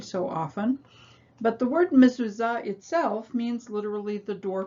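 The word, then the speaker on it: מזוזה: often but the word mizuza itself means literally the door post the second letter in the word is the new letter zine which makes the sound z like a buzzing bee and see if you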